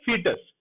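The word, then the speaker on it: foetus: उस कंडीशन को बेटा बोला जाता है फीटस। ओ साइलेंट होता है इसमें, ठीक है।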